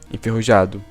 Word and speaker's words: enferrujado: Portuguese word for worsty, enferrujado, but guess what? She pronounced the J like it was an H.